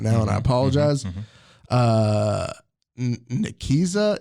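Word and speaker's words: Nicieza: was written by Fabian and I'm G to mispronounce his last name I'm just saying that right now and I apologize uh nikisa it's ni c i e zaa okay so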